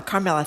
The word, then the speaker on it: Carmela: Carmela, thank you.